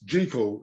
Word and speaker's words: Jekyll: Ah, so it's Jekyll, and it rhymes to rhyme with treacle.